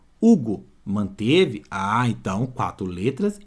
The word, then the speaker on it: Hugo: som a palavra Hugo o nome Hugo ó risque esse h e vê se mantém o mesmo som Hugo Manteve Ah então quatro